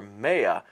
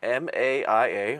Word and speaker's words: Maia: Well, actually, what I found out, it's Greek, because it is named for Maia, or M-A-I-A, or Maia, I think that's how you pronounce it.